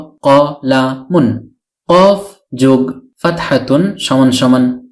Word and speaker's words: قَلَمٌ: প্রদান করে থাকে ফলে কলামুনের অর্থ দাঁড়ায় একটি কলম অনেক সময় আমরা কলাম বলে থেমে যাই শুধু কলাম উচ্চারণ করে মুখস্ত করে থাকি অর্থাৎ ওয়াকফ করে ফেলি মানে শেষের তানভীনুনটি উচ্চারণ করি না কিন্তু এখন আশা করি